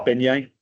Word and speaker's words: beignet: and I won't test people, but it is pronounced beignet.